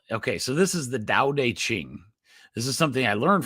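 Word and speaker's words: Tao Te Ching: But it's pronounced Dao Deq Ching.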